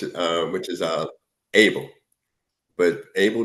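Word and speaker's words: הֶבֶל: that's born which is uh which is uh Abel but AEL name is pronounced habel in Hebrew you know so the one that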